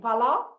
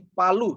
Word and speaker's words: Palu: In Palau? Saya telah menyaksikan sendiri apa yang dimaksudkan oleh ayat firman Tuhan ini di Palu, Sulawesi Tengah.